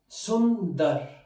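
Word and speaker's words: सुंदर: let's begin with our first word which is Sundar which means beautiful is a very beautiful girl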